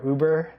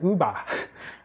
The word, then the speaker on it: Uber: So instead of saying Uber, he calls, and plus there's no sound in Japanese, right? So he says, instead of Uber, he says uba, uba, just like yuba.